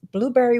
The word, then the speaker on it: Blubrry: Then Blueberry, which is Blueberry without the E's. I'm not sure why. Somebody says, oh, my friend Dave Jackson says, because E's are evil. I don't, but it's spelled Blubrry.